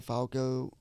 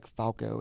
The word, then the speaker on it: Flacco: I keep saying some sentences I'll say Flacco, pronounce it correctly, and then I'll say Falco, and I'm like, Flacco. that's not right.